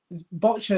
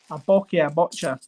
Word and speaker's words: boccia: Botcha is what I was told is exactly how you pronounce it.